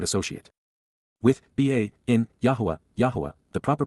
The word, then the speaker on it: Yahowah: Yahwa, the proper pronunciation of the name of Eloha, God as directed in his Torah, teaching regarding his higher existence in our shalom restoration.